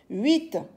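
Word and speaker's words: huit: 7 s e P t la lettre P s'écrit mais ne se lit pas 8 h u i t la lettre H s'écrit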